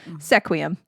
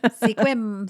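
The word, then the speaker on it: Sequim: another one that is commonly pronounced because it is spelled sequum sequum squim squim squim and last but not least the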